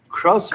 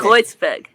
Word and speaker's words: Kreuzberg: Crossbeck? Kreuzberg.